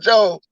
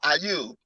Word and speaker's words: Ayub: You remember the story of Job, right? The same way that Job, or Ayub, to say it correctly, the same way that